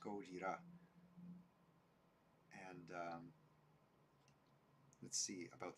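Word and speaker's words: ゴジラ: to a Japanese person you don't call this a Godzilla movie this is goeta Goa SP spelled with um Katakana characters goira and um let's see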